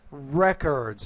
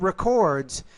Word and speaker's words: records: Wrong word stress here. Copious records, not records. If you use record, you're using it as a verb. If you say records, you're typically using it as a noun.